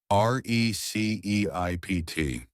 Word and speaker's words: receipt: And our very last word of the day is receipt. R E C E I P T. That P is silent.